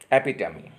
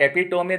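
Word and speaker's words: epitome: एपिटमी. एपिटमी, इट्स नॉट एपिटोमी, that is एपिटमी. The correct pronunciation that is एपिटमी या एपिटमी.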